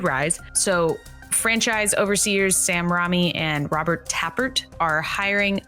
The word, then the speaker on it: Raimi: It's Raimi.